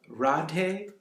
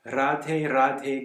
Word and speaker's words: Radhe: done with in Hindi, to my best of my knowledge, it's pronounced with a roll, just like, sort of like in Spanish a little bit, like right? Radhe Radhe Govinda Gopala.